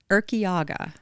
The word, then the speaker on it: Urquiaga: And so welcome to the studio, Urquiaga. Did I say it right? You said it perfectly.